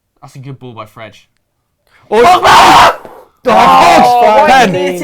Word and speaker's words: Fred: Fredge. Fredge. Is it actually Fredge in But Brazilian, in Portuguese?